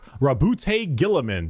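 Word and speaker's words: Roboute Guilliman: Primarch, Rabute Gilliman. That's how it's said.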